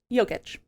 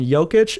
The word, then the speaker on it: Jokic: So you're going Jokic and Giannis. Yep. The soft J and the soft G.